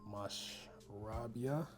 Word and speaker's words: Mashrabya: Here we got Mashrabya. That's how you say it.